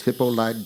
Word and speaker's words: Hippolyte: his name it was hippolyte dagle bear with a silent tea at the end as he was quick